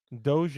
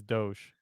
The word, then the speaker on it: Doge: Doge is because it's supposed to be Isn't it pronounced dog? no, it's Doge.